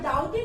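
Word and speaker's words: doubt: आई डाउटेड इफ I should ever come back. तो poet कहते हैं कि मुझे डाउट हुआ, इसको डाबट नहीं बोलते, बी जो है इसको नहीं बोला जाता, बी साइलेंट रहता है।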